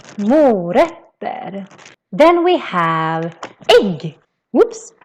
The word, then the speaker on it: morötter: The O in mo is quite long, mo. And then the ö, which is this letter with two dots in Swedish, that becomes very short. So it's not ö, it's more like ö, because we have two consonants coming after it. So that's why it's called morötter. Morötter.